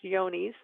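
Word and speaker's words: Johne's: It looks like John's disease, but it's actually pronounced Yonis.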